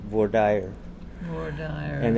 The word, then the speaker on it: voir dire: It's a French word, and it's used during the prospective jurors process when they're going to be on a jury trial.